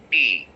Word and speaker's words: present: For example, like we have a noun Present. Okay, now this is a noun. This is not a verb here, this is a noun. I'm breaking it from here and I'll be stressing the first syllable.